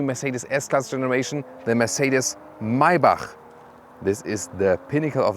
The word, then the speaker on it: Maybach: s-class segment and mybach listen and repeat maibach not my buck because the germans they have this ch as so and the ultimate german pronunciation would be mercedes maibach that's it so now you know